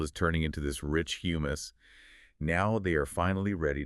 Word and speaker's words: humus: It has been transformed into a stable, spongy, carbonrich matrix called humus. Humus. Wait, like the dip you eat with pita chips? No. is spelled with one M. H U M U S.